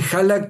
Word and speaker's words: Hallak: Y no sé porque dice, "No te lo sé pronunciar bien, pero vos me lo dijiste Jalak, como me llamaron siempre en Estados Unidos, que vivía ya casi 10 años, eh, siempre era lo más natural.